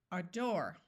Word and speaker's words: adore: Adore, aback, acute, adult. O says in this word, afoot. Did you remember to accent the second syllable? It's not adore, it's adore. It's not aback, it's aback.